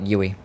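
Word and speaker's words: Youi: in Australia called UI it's spelled y o u i for you and insured and they just call it yui oh god let's go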